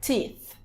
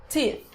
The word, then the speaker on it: teeth: Brush my teeth. Teeth. Olha. Teeth. A gente tem o som do TH mudo, tá? Então, esse sonzinho aqui, ó, é esse som de você precisa colocar a linguinha entre os dentes, que você vai ver